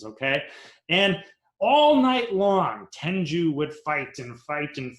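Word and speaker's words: tengu: about this mythological creature and his name was tenju it's spelled t-e-n-g-u now depending on which picture you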